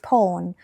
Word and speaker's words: พร: คุณ บอก ไป เลย my to name is por ชื่อ ไทย ของ ฉัน น่ะ พร นะ จ๊ะ it means blessing มัน หมาย ถึง ว่า blessing นะ ภาษา อังกฤษ น่ะ it has Nothing To Do With The English Word มัน บ่ มี อียัง